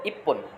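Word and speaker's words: 一分: তচুটা পরের বর্ণ রূপ ধারণ করে পরের বর্ণকে ডাবল করে দিবে। ঠিক আছে? এইজন্য এটার উচ্চারণ হয়েছে ইপ্পন।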